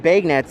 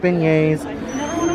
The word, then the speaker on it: beignets: and that's really good and now they have bag nets over here this year so we're definitely wanting to try that and yes guys we know it's pronounced beignets but uh oh my gosh it smells absolutely